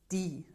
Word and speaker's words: die: esa palabrita que eran die, que en alemán son D y E, que es un particular porque además es una I larga, pero se escribe con E.